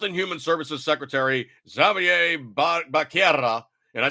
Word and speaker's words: Becerra: So Biden, Health and Human Services Secretary Xavier Becerra, and I say it correctly because there's two R's.